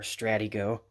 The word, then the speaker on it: Stratego: Then we've got Stratego, or Stratigo, or Stratego. I'm not quite sure. It's pronounced differently everywhere, but I've always called it Stratego.